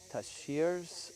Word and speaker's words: tarsiers: Because uh tashiers are nocturnal.